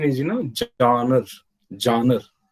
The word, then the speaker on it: genre: story so john is the french word the pronunciation is you know johnner johnner it's derived from the french phrase genre